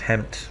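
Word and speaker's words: HEMTT: Calling in 4 more Hemmets. I know it's pronounced Hemt, but I prefer Hemmet.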